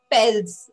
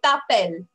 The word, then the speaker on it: t'appelles: is not pels. Okay, you are not going to say pels. You are not going to pronounce S. Okay, that will be wrong. I will say no to yes. Okay, so you are going to say tapel.